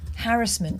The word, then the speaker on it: harassment: It's pronounced harassment. Harassment. To rhyme with embarrassment, which is what it is when you can't pronounce things.